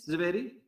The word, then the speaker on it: Zweiri: Is this how you pronounce it, ZWEIRI?